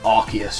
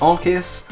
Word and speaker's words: Arceus: the god of pokemon it's arceus or arceus arceus arcus i'm gonna say arceus uh let me know in the comments what you say it's one of those ones that i think both pronunciations are fine but people are divided on which one is the one to say i'm gonna say arceus